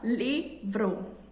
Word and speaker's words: livro: Quando eu falo livro, a minha voz, a minha entonação foi mais para a sílaba li. Então, livro.